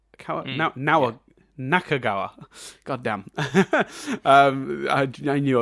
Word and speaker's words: Nakagawa: most see yourself in are nanahara and um kawagawa now now nakagawa goddamn i i knew i was getting mispronounced some names doing this um but what